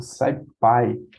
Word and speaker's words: SciPy: Como falei, o Pandas para data frame, o NumPy para a parte mais matemática, o SciPy, pronuncia assim, ele tem algumas funções, né, estatísticas, né, para a questão de dados ali, distribuições.